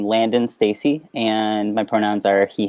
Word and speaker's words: Landen Stacy: name and what are your pronouns so you pronounce my name landon stacy and my pronouns are he him okay perfect